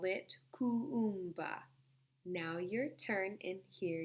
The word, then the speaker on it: Kuumba: The 6th day of Kwanzaa, we call it Kuumba. And there are 2 U's, so you must pronounce each U. Okay, let me do it again. The 6th day of Kwanzaa, we call it Kuumba.